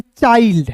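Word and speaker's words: child: बहुत सिंपल है सी एच आई एल डी चाइल्ड क्या पढ़ेंगे चाइल्ड पढ़ेंगे।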